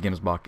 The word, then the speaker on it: gemsbok: so far for hunting gemsbok or jimbacca I'm just gonna call him Gibbs mark I'm pretty sure everyone in my last video said that Gimmes buck is the proper way to say it so I'm just gonna